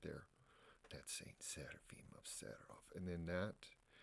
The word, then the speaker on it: Seraphim: And I said, well, for Americans that I meet, especially ones like Midwest South, it's like Seraphim, Seraphim, or just Seraphim. From the Russian traditional pronunciation, it's Seraphim, not with an N, Seraphim, Seraphim.